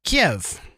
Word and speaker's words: Kiev: So Kiev is Russian and Kyiv is Ukrainian or something like that.